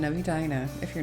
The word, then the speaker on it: Edina: Note the pronunciation of Edina if you're not from here.